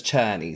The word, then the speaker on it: Czerny: Right, YouTube says Cherny, so that's how I'm gonna pronounce it.